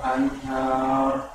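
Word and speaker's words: الأنهار: Jazaa'uhum 'inda rabbihim jannatu 'adnin tajri min tahtihal anhar. Anhar. Hanya tetap ha. Anhar. Iya, hanya biasa ha tipis ya. Maksudnya walaupun dia huruf H besar, namun tipis bacanya. Jangan terpengaruh huruf ro-nya. Anhar.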